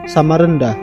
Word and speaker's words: Samarinda: Sampai menjelang akhir abad ke-20 atau sekitar dekade 1980-an, warga masih menyebut Samarinda dengan lafal Samarenda, pengucapan huruf E seperti pada kata beta, walaupun dalam bahasa penulisannya sudah berubah menjadi Samarinda.